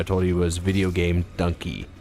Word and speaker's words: Dunkey: you was video game Dunkey it's like donkey but spelled with a u instead of an O So before we do